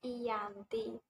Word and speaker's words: Giyanti: Nama Giyanti sendiri diambil dari tempat penandatanganannya di Desa Janti. Dalam pelafalan Belanda, ialah sebagai Iyanti.